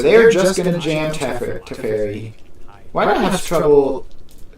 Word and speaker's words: Teferi: So what I was going to say is that Torch the Tower means they can't jam Teferi, tuck the Fear, and then still keep their Teferi.